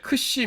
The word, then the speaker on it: xi: 이름 은 xi 인데 , 앞서 'k' 발음 을 카파 (kappa) 라고 했던 거 기억 하시죠 ? 예 . 하지만 이건 분명 다른 소리 일 거 예요 , 그렇죠 ? 이것 은 'k' 소리 뒤 에 's' 소리 가 오는 'xi' 라고 불립니다 .